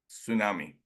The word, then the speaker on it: tsunami: it is no tsunami there is a t that is pronounced tsunami does it make any